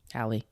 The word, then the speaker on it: Halle: Halle. Oh, sorry. I say Haley all the time. Haley, it's Halle as in Halle Berry. They spell it the same way.